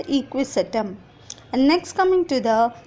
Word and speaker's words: Equisetum: top example salazinella equisetum check the pronunciation children salaji nella and equisetum and next coming to